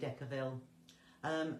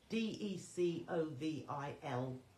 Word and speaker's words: Decovil: I did say Decaville. It's spelt without the LE on the end, so Decovil.